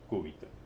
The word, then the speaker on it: cúbito: Este es el cúbito. Con acento en la U. Cúbito. No como un alumno, como ya le conté en la clase anterior, que se llamaba Oscar, pobre, ya falleció. Que le decía cúbito.